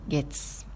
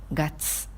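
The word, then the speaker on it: 月: de tirs au but il y a trois prononciation dans ce qu'en dit ce qui guette et gatz pour le jour de la semaine on prononce comme gates pour dire la dune on prononce comme ce qui pour les mois de l'année les janvier-février et setra on utilise gatz par exemple iti gâteux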